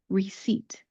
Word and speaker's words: receipt: Don't really look at the spelling because if you look at the spelling, there is a P there. We're not going to pronounce that. Instead, think of the word for something that you sit on, a seat, S-E-A-T, seat. That's the sound that we're going to make when we pronounce this. Now let's put it all together. Receipt, receipt.